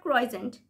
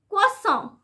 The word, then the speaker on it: croissant: So this is a French word, and this is pronounced as, listen very carefully, croissant, croissant, croissant. So this word has two syllables, and it is pronounced as croissant, croissant.